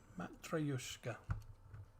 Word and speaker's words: Matryoshka: Matryoshka. There you go. Mike's stupid word pronunciation of the day.